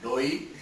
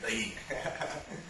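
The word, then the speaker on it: दही: of Ridhima is when she could not pronounce dahi and she used to always call it doi. So I hope by now you've learned how to speak it, pronounce it properly and call it dahi.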